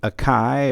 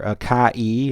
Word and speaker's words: Akai: this is the aai or aai or AK AI however you want to pronounce it vs33 U VHS